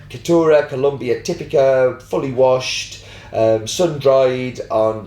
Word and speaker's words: Colombia: The country's name is pronounced Colombia, not Colombia, as I keep saying.